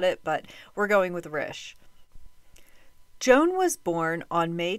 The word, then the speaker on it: Risch: how to pronounce it it seemed like Rish was the most common pronunciation but some people pronounce it rich if I'm wrong I'm sure I'm gonna hear about it but we're going with Rish Joan was born on